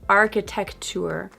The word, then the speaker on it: architecture: Not architecture, but architecture. Architecture. Architecture. So notice how the C and T sounds blend together in this word.